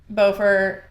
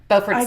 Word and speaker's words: Beaufort: But like, I think it's more of like Buford. Beaufort's north. Good lord. Yeah, Beaufort south. I know. North. I always say Beaufort. But it's spelled the exact same, but there is a difference.